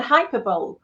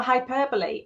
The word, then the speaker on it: hyperbole: I remember saying epitome for epitome, and hyperbole for hyperbole, and melancholy for melancholy when I was a kid.